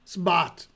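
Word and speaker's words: Smbat: Or how do you say it again? Sbat.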